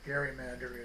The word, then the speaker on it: gerrymander: of you who don't know that GN gerrymander is a hard G and he was very